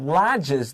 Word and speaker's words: lodges: next word we have lodges the g is a j it's not like ladder goods g is j right a j there so it's been achieved